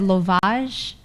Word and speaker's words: Lovage: It's lovage.